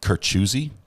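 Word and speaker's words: Kurczewski: a it's a long it's almost like a Russian type last name but everyone's getting a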